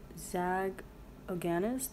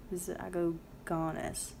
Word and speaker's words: Zagogiannis: Zagogiannis, the first I is silent. Oh, Zagogiannis? Zagogiannis.